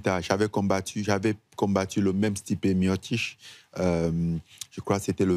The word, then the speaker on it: Stipe Miocic: En fait, la façon dont il prononce ça, c'est pas la façon dont on écrit. C'est Stipe Miocic, mais si tu veux lire ce qu'on a écrit, ça donne pas Stipe Miocic.